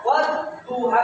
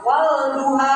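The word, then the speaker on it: وَالضُّحَى: Maka dibacanya wadduha. Jangan walduha. Enggak boleh ya. Enggak boleh. Wadduha.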